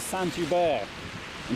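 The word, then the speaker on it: Saint-Hubert: this place is Santa by you st.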